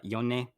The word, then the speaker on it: Yone: Yone.